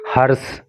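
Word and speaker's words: hearse: और यहाँ पे डिफरेंस समझिए, एक तो होता है हर्ष हिंदी में जिसका मतलब खुशी होता है, ये हर्ष नहीं है, इसका प्रोनाउंसिएशन है हर्ष, हर्ष, ठीक है।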